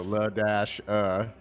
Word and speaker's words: Ladasha: a younger sister, and her name is Ladasha, and it's spelled L-A, the symbol dash A. The symbol dash. So La dash and Ladasha. So it looked like yeah.